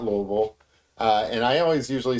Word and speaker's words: Louisville: And I always usually say, so I used to say Louisville, but I've taken to saying Louisville, right? Just kind of lazily say it. Everybody's got their own way, and even among the people who live here, everybody's got their own way. There's no right way.